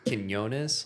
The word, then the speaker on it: Quinones: And it's truly the joke is it's it's actually truly kinonis. Like that's the Hispanic way to say it. Kyonus, right? With the W after the Q. I say quinonus because I'm I am